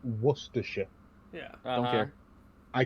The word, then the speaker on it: Worcestershire: the uk wash your sister sauce yeah it's pronounced worcestershire yeah i don't care i can't say it